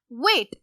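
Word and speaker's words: weight: इसी तरह वेट, वेट में भी हमारे पास जीएच की कोई साउंड नहीं आ रही, तो वर्ड इज वेट।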